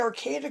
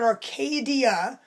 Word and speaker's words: Arcata: Like if you call the Arcata Co-op in Arcata, California, which is spelled with a T. I'm not talking about Arcadia.